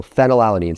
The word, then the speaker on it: phenylalanine: Fortunately here, an easy way to remember this is that phenylalanine is pronounced, it starts with F, so phenylalanine.